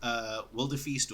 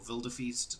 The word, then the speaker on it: Wilderfeast: it's a game called Wilderfeast or Wilderfeast, depending on whether you want to pronounce it with a V or a W, based on where in the world you are. I want to call it Wilder Feast.